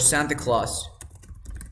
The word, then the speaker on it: Santa Claus: The second rule, when you have NT and vowel sound, is the same. You never pronounce the T. For example, you have the word Santa Claus.